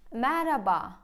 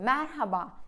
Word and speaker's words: merhaba: Ben araştırdım ve H harfi söyleniyormuş. Fakat mesela Mehmet, baharat böyle diyorsunuz. Ben mesela konuşurken baharat diyorum. Ya da Mehmet diye konuşuyorum. Merhaba diyorum. Merhabalar. Merhaba. H. Yani H bile aslında okunuyormuş ve okumuyorsunuz. Neden?